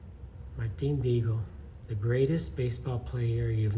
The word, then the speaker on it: Martin Dihigo: And Martin Dihigo is how you hear it pronounced, but in Spanish you don't pronounce the H. So it's Martin Dihigo. Martin Dihigo, the greatest baseball player you've never heard of.